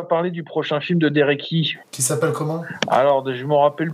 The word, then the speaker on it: Derek Yee: ouais, il a fait ça s'écrit YEE Derek et puis après YEE quoi, c'est Derek Yee.